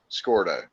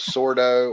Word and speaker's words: Scordo: His name is pronounced Scordo. Yes. Yeah, we were trying to From, decide if it was Sordo or Scordo.